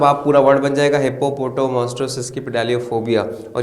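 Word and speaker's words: hippopotomonstrosesquippedaliophobia: जैसे यहाँ पे देखो हिप्पो, फिर पोटो, मोस्ट्रो, सेस्क्वी, पिडालियोफोबिया, और मिला के आपने पढ़ा तब आप पूरा वर्ड बन जाएगा हिप्पोपोटो मोस्ट्रो सेस्क्वी पिडालियोफोबिया।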